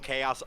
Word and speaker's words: chaos: Chaos also starts with the hard C sound.